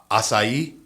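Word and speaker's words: açaí: I can never pronounce the acai.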